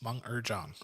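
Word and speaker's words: Meng'er Zhang: I looked up the pronunciation because I absolutely butchered our lead character. Let's hope I get this right. Mung Mung Zhang. Yes, Meng Erjong.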